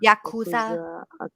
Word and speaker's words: Yakuza: Yakuza. Yeah. Yakuza. Auza. Yeah. Something like that. Okay. Okay. Okay. But it's Y A K U Z A.